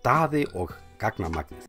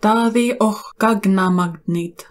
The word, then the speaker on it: Daddy og Gagnamagnið: Oh, I should probably learn to pronounce that before I start. So, let's do that. Daddy. Daddy. Daddy og gagnamagnið. Daddy og gagnamagnið.